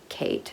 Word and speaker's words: KHAITE: talking about the brand Kate spelled k-h-a-i-t-e it's pronounced the way you would say the name Kate the Founder's name is